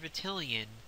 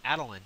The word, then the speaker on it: Attilan: you can run the protector of atian protector of adelin excuse me I've been saying it wrong the whole time the protector of adelin